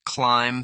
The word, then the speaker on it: climb: Silent B, doubt, debt, climb, thumb, lamb.